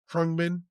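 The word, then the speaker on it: Khruangbin: How you pronounce that? Krungbin.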